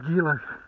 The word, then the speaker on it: Gila: gila monsters and the gila coke hold on hold on a second what you what really it's pronounced gila gila yeah i knew that